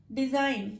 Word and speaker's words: design: ڈیزائن, DESIGN, ڈیزائن, یہاں پہ بھی جی کو سائلنٹ رکھا ہے.